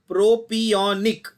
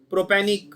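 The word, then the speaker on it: propionic: There is no word like propanic, है ना? English medium से पढ़े हो ना, प्रोपियोनिक इतना तो बोल सकते हो, लिखा है ना सामने। Please I don't want stupid pronunciations like प्रोपेनिक, प्रोपिनिक. दिख रहा है ना क्या लिखा है?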